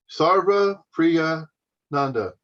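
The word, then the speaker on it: Sarvapriyananda: his name sorry about sarah priyanda yep sounds about right just yeah just break it down sarva priya nanda see just just break it into three sections sarva priya nanda sagar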